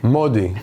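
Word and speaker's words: Mahdi: M-A-H-D-I. Modi. The way they pronounce my name in Israel.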